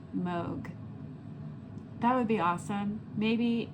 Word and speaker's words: Moog: So, if you can in the comments go down there and and type in it's actually pronounced Moog, that would be awesome.